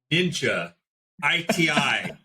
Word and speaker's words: NINJA-ITi: Okay, John, today we're going to talk about NINJA-ITi, but the last I is silent, and that is bringing back my martial arts expertise.